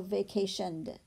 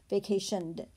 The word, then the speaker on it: vacationed: I might take ing away and I'm going to drop down with ed, so vacationed. Well, actually it's not ed, it's duh. Vacationed.